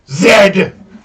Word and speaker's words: Z: is a couch and it is pronounced zed not z zed canada is the second